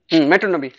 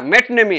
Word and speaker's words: metonymy: মেট্রোনমি। স্যার ওটা নমি পড়বো না নিমি পড়বো স্যার? কোনটা? ওই যে নামটা স্যার মেট্রোনিমি। ঠিক আছে স্যার, পড়বো স্যার? হ্যাঁ মেটনেমি, হ্যাঁ ওটা পড়বে না কো, মেটনেমি ওটা ওখানে সাইলেন্ট হবে।